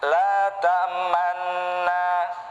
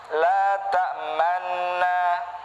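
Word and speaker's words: لا تأمنا: Oke, pada lafaz la ta'manna, cara membacanya la ta'manna, la ta'manna. Oke, mulut kita ditarik dulu, lalu dimonyongin, terus ditarik lagi. La ta'manna, la ta'manna. Nah, ini namanya bacaan ismam ya.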